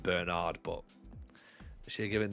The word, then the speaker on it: Bernard: It's only a just bloke name if you pronounce it Bernard rather than Bernard.